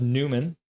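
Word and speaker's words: Nyman: So, it was uh Yanny Newman. It's pronounced Newman. I don't know why it's I mean he's it's Newman, but let's have a look at the goal visualizer.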